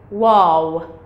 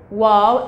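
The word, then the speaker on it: واو: the left side so this is letter wow wow or w w as in what we uh with so this is pronun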